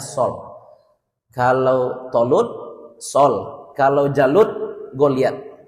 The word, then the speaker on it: Saul: Bacanya Sol.